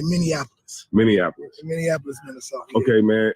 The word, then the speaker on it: Minneapolis: I had it wrong everybody says minap because of Indianapolis Indianapolis is how you say that but uh in Minnesota you say Minneapolis Minneapolis Minneapolis Minnesota okay